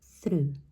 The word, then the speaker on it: through: we say through through I know once again we see o u g h all together and we want to pronounce it as like of course we want to pronounce all of the words there but it's much much simpler than it looks okay through the next